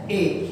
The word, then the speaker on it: a: अगर ये सेंटेंस में यूज होता है तब इसकी प्रोनाउंसिएशन होगी आ, तो अब हम इसको बोलेंगे आई एम अ टीचर।